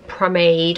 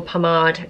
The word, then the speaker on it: Pomade: So I am using the Anastasia Dip Brow Pomade or Pomade, depending on how you say it, in Soft Brown, and the Anastasia Brush as well.